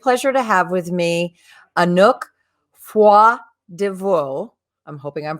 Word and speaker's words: Anouk Froidevaux: have the great pleasure to have with me anook foie divor i'm hoping i'm pronouncing that correctly ah she's a dance artist